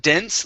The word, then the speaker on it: dense: going to be uh dense let's use a short e sound instead of dance okay de the dense wood